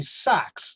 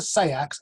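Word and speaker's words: seax: of anglo-saxon knife that is is called a sax not a sex is pronounced sax that is a dip thong one of those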